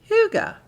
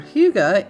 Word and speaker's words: hygge: definition of the word hygge. Now in English, it does not look like the way it's pronounced, but it is a Danish word and a Danish concept, and it means a